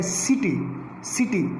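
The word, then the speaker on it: city: अब उसके बाद I की बात करते हैं, अगर C के बाद I हो, I अल्फ़ाबेट हो, अब क्या है, सिटी, उसमें भी सा का साउंड आया है, सिटी।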